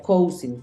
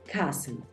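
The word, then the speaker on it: cousin: para para primos entonces hay gente que piensa que se pronuncia coing Porque así es como se escribe pero primos o primo no se escribe coing la voy a escribir aquí en el centro para que tú sepas que es una palabra neutra coing coing no se pronuncia igual como se escribe se pronuncia cen cen Así es como se pronuncia cas y Ken corresponde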